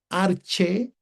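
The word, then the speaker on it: ἀρχῇ: Luego tenemos la palabra arche. Arche porque no se no pronunciamos la yota suscrita.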